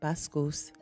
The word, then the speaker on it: Vasquez: My name is Vasquez, properly pronounced Bascus, and I reside in Atlanta, Georgia.